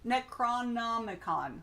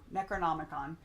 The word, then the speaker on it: Necronomicon: Necronomicon. I said it wrong. Necronomicon.